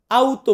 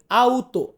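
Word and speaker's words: auto: মাক্কিনা বা মাসিনা বলে বাট এটার সঠিক উচ্চারণ যদি আপনি করতে যান সঠিক মানেটা যদি বলতে চান সেক্ষেত্রে আপনি আউতো বলবেন আউতো আর এখানে হচ্ছে আর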